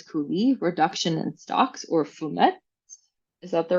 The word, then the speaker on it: fumet: There's a wide range of preparations, such as coulis, reduction, and stocks, or fumettes. Is that the right pronunciation? Fumet.